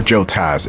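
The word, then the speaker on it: Jotaz: dance around with the joez or Joe Taz it's it's Tas like the Tasmanian deel not t say I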